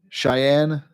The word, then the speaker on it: Cheyenne: We have some down in Cheyenne. I'm pronouncing that right?